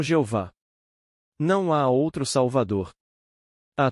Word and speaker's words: Jeová: Esta palavra é simplesmente Yod-He-Vav-He, que pronunciamos como Jeová.